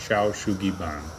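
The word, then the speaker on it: 焼杉板: Now, the Japanese have a method dating back to the 18th century called what I believe is pronounced Shou Sugi Ban.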